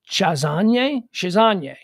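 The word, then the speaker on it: Chassagne: that french name c-h-a-s-s-a-g-n-e so a-g-n-e on is i've heard pronounced as any um so chasane regine cited past struggles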